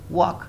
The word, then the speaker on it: walk: Walk, because there is a K after L, so we pronounce it like walk. The L is silent.